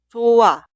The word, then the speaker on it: 좋아: La consonante final 히읗 delante de la consonante inicial i응 simplemente no se pronuncia. Vemos la primera frase. Escribimos así, pero suena 좋아, 좋아, 좋아. Cuidado, nunca se pronuncia 좋아. Es incorrecto.